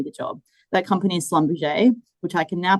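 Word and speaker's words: Schlumberger: That company is Slumberge, which I can now pronounce and they're now known as SLB.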